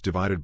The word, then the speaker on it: ÷: in the four plus years since the release of his divided by album pronounced divide ed sheeran married longtime sweetheart cherry seabourn welcomed their first child daughter lyra and turned 30.